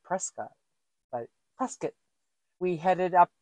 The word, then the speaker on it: Prescott: from Prescott presc somebody corrected me that it's pronounced presc looks like Prescot but presc we headed up north and we